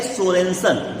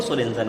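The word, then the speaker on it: Sørensen: पीएच की खोज किसने की थी, कहते हैं 1909 में डेनिश वैज्ञानिक SPL सोरेनसन, जो SURENSEN, देखिए वो देखिए स्पेलिंग लिखी है सामने, है ना, तो सोरेनसन, तो वो है, वो स्पेलिंग है, वो सोरेनसन है।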